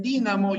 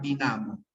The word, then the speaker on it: dínamo: y otros dirán Boomerang algunos dicen dínamo y otros dirán dinamo algunos dicen frijol y